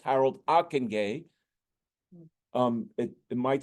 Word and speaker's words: Ockenga: and that's Harold aenay his his name is pronounced Harold aenay um it it might sound like akenga but it's Aken uh he was the one